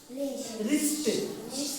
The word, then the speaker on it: wrist: right what is this wrist W is silent in wrong right wrist wrong లో W silent right లో W silent wrist లో కూడా W silent right